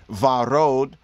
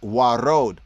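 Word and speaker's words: ורוד: Pink, They have it here, modern Hebrew pronunciation would be varod. Ancient pronunciation, Afro-Shemitic, is warod, warod, warod, warod, right?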